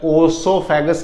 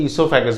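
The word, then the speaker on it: oesophagus: तो इसमें ईसोफेगस में ओ साइलेंट रहता है, ओसोफेगस नहीं बोलते इसको, ओ साइलेंट रहता है तो ईसोफेगस बोलते हैं।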